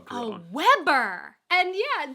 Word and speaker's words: Weber: Oh, a Weber grill. A Weber! And yeah, just that different pronunciation. Weber and Weber And I threw me off.